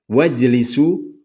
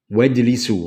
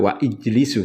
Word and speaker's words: wajlisu: Begitu juga ketika hamzah wasal itu setelah wawu. Wajlisu, nggak wa ijlisu, tapi apa? wajlisu.